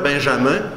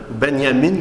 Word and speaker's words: Benjamin: au nom paradoxalement d'orateur benjamin benyamine comme vous devez le prononcer si vous ne connaissez